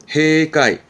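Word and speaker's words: 閉会: 발음은 해까이. 폐 발음이라 해 되갑니다.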